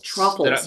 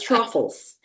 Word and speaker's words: Trofholz: It's truffles. Got it. I always tell people it's pronounced truffles like waffles, but Yeah.